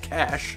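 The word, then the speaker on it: Cache: are close to the cash river c-a-c-h-e is pronounced cash like johnny cash for those of you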